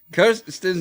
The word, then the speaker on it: Kirsten: Kirsten's name is pronounced like this. Kirsten.